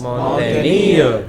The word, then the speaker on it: mountaineer: mountaineer, All of these words ending in ERE or EER take stress on the final syllable.